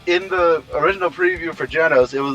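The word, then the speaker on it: Genos: that a good transition it's jenos not binos yeah even I have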